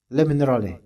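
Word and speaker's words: Le Minerale: Baca lam minal ini bacanya begitu lam minal gitu l minal karena ini dari bahasa Prancis ini lumal ya bukan bahasa Indonesia antum bacanya le mineral nah gitu bacanya sambil kumur-kumur ikhwan l minal gitu bacanya nah misalnya ini dijual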